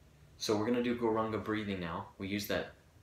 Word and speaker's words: Gauranga: It's in 4 syllables. Go, ra, ang, ga.